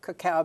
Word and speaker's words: cacao: child see a CEO it's pronounced cacao cacao chocolate coca no there